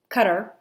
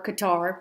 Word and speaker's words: Qatar: we went to uh cutter or qatar depending how you say it uh and i